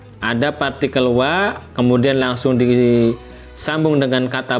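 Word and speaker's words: は: Ya, saya tuliskan di sini ya, wa dalam hiragana ini seharusnya ini ya dibacanya adalah ha, ya.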